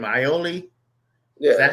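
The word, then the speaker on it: Iole: Ioli? Yeah. Is that how you say Kevin Ioli? Kevin Ioli.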